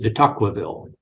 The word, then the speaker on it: de Tocqueville: I pronounce it de Tocqueville. Tocqueville.